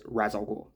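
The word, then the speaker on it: Ra's al Ghul: and the master himself, Ral Ghoul or Razal Ghoul. I'm just going to say R. Uh, but I believe that is the Hebrew saying and not the Arabic saying. Please correct me if I'm wrong. And I believe the Arabic way is razul.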